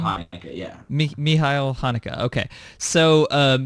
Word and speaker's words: Michael Haneke: Well, okay, so I wanted to get into this here because you mentioned Michelle Haneke. Is that how you pronounce his name? Michael Haneke, yeah.